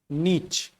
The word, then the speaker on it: niche: देखिए, जो मोस्ट एक्सपेक्टेबल जो प्रोनाउंसिएशन है इसका, वो है नीच।